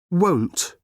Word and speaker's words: won't: O won't.